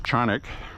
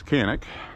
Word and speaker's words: Canik: We did get a Canik, or pronounced in Turkish, Canik. English, it's Canik.